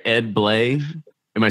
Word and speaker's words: Bley: sure I'm saying it right too right Ed blle am I saying your name correctly it's BL